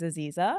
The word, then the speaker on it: Aziza: I'm like, it's Aziza, like Louisa, like diva.